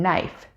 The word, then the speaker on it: knife: S in island or the silent K in knife.